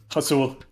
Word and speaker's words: Hasul: Hasul. Hasul? Yeah. Oh, Lord. But, like, kind of guttural. That's the way the Illicit pronounce it.